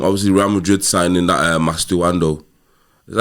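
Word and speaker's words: Mastantuono: Obviously, Real Madrid signing that Mastuando. Is that how you say his name? Mastuano, yeah.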